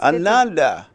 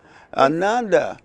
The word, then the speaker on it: Ananda: uh welcome oh man uh that did I pronounce it right it's Ananda Ananda Ananda okay another leak it's good to be here